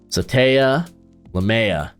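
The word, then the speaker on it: Sataoa Laumea: get the pronunciation out let me get the pronunciation out for this guard out of Utah as it is SATA lamea there we go I think he uh played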